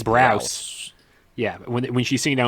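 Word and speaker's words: Braus: How do you pronounce their last? I believe it's Browse.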